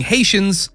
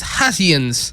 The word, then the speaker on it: Haitians: in the film was Cher mispronouncing Haitians as hatians while delivering a speech in debate class the mispronunciation was not